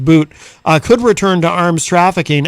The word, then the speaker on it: Bout: Boot it's spelled Bout, but I think it's actually pronounced Boot, could return to arms trafficking after Griner exchange.